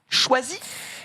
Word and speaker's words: Chwazi: D'où le nom Choisi. Ça s'écrit CHWAZI.